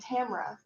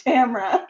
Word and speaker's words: Tamora: of it because the author that everyone calls Tamora Pierce yeah I think writes fantasy it is indeed Tamra okay it is a wonder to verse 1 for 2 all right you've all been saying it wrong it's Tamra Gillian I find Gillian personally